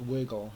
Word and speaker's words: WGL: you Google um wgl it's pronounced wiggle usually um and you might need to say like you know wiggle C++ or or um wiggle opengl something like that to um get